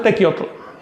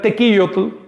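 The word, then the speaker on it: tequiyotl: Aquí tenemos una palabra que aunque se usa para referir, bueno, generalmente se pronuncia tequiotle, teotle, en realidad es tequillotle, eh, se usa para referir el trabajo que se hacía comunitariamente para pagar los impuestos del Carpuli.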